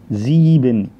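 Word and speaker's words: sieben: نفس الكلام الحرف ده رقم 7، الحرف ده هيتنطق زي، وبعدين الحرفين دول الاي اي بيتنطقوا اي، يبقى دول زيبن.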